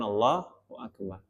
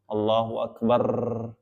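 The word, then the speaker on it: الله أكبر: Allahu Akbar dan juga Terkadang ada imam yang membacanya Allahu akbar ada madnya di situ maka ini tidak boleh juga Allahu akbar ada kayak gituanapi mengucapkannya sesuai dengan porsinya sesuai dengan yang ditetapkan oleh ulama qatal Allahu akbar cukup Allahu akbar Allahu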